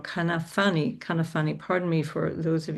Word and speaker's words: Kanafani: an activist called Hassan Kanafi. Sorry, I've got the name wrong. Kanafani.